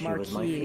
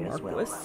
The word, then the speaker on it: Marquis: Interesting that they chose the French pronunciation of Marquis instead of Marquis, which is the English way.